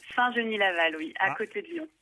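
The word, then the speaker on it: Saint-Genis-Laval: clair qui est un saint génis laval c'est ça saint denis la loi on ne prononce pas de s tout près de lyon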